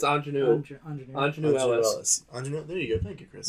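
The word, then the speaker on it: Aunjanue Ellis: Ingenue Ellis.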